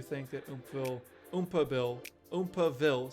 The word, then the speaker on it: Oompaville: that oil Ooma Bill oompaville sorry not oille I've been saying it wrong this whole time let me know if